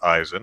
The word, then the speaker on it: Eisen: and yeah it's pronounced eysan i know that makes no phonetic sense in english but there you go that's german so it makes phonetic sense there yeah II I in